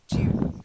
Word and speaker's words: dune: Okay, so the first word is dune, a sand dune. Oh, June, like That's a month it. of June. Yeah, like the month of June, but with dune.